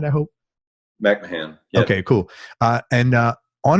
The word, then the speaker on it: McMahan: Again, it's McMahan. I'm pronouncing your last name right, I hope? McMahan.